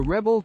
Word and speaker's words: rebel: the verb Rebel in an archaic manner the rebel Katniss everine rebelled against the capital let's look